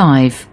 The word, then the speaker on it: live: লিভ আপনার এখানে শুধু Live. দেখবেন যে কি উচ্চারণটা। আর যখন অ্যাডজেক্টিভ হিসেবে কাজ করে তখন দেখবেন যে এই উচ্চারণটা লাইভ হয়। এখানে দেখেন এই লিভটা এখানে অ্যাডজেক্টিভ, এটা উচ্চারণটা Live.